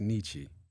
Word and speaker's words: Niche: Nietzsche. Is it Correct. pronounced Nietzsche?